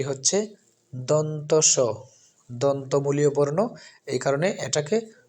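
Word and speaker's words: দন্ত্য স: এখন যে বর্ণটি আমরা দেখতে পাচ্ছি সেটা হচ্ছে জিন্তাস্য যেটা প্রচলিত বাংলায় আমরা জিন্নতাস্য উচ্চারণ করি কিন্তু সঠিক উচ্চারণটি হচ্ছে দন্তস দন্তমূলীয় বর্ণ এই কারণে এটাকে দন্তস বলা হয়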